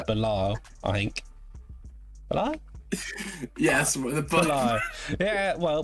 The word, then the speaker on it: Belal: Yes, Belal. Yeah, well, pronunciation ain't the name of the game.